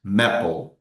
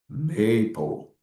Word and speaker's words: maple: Então, nós não dizemos maple. Como nós temos apenas um P, nós dizemos maple.